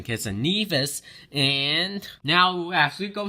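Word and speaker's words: Saint Kitts and Nevis: a bunch of sources it's not party pronouncing kids and nervous versus pronouncing Kitts and Nevis and now as we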